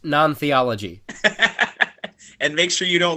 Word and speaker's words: NonTheology: you don't want to watch it eric it's pronounced non-theology and make sure you don't let any gay